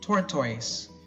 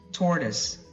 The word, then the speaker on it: tortoise: put it here because I've heard some people say tor toys worth or toys or tort wha wrong again it's tortoise tore this tortoise now